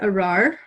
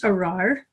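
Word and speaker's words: ארר: 217 you can see the hebrew of the curse arar and it's spelled alef there's a doubled race arar which makes it really hard to pronounce in hebrew when you consider how far down in their throats they say the r so aleph is the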